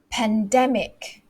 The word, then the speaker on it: pandemic: all the time okay the word is pandemic pandemic so where's this on the second syllable pandemic okay and then this